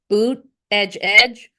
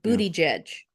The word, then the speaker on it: Buttigieg: He pronounced it 2 ways. It's either boot edge or booty judge.